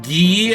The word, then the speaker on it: Guy: Guy is the French pronunciation. Oh, we Yeah, we can have a gates gades between ghee and guy.